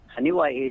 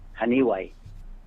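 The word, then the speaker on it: Janiuay: Haniway is a town. Right. It's down a city. Haniway. It's spelled JANAWAY. Haniway. It's JANIWAY. That's Haniway, Iloilo.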